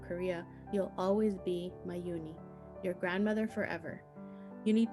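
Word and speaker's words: Unhei: turned to joy she nodded slowly yes it's pronounced uni and it means grace mr kim added yooni joey said slowly and this time perfectly it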